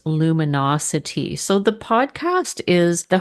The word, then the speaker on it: Luminocity: L U M I N A T O and the podcast is called Luminosity, but it's spelled L U M I N O C I T Y to focus on the the city vibe.